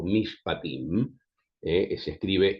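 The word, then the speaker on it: mishpatim: Eh, a diferencia de esta ley llamada casuística o mispatim, eh se escribe m i s h p a t m.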